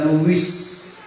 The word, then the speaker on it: Louis: Di Prancis itu ada raja yang namanya Raja Louis. Raja Louis itu kalau orang Prancis manggilnya Louis. Raja Louis, nama aslinya Louis. Orang Indonesia yang bacanya Louis, tapi kalau orang Prancisnya itu nggak bisa S, tapi Louis.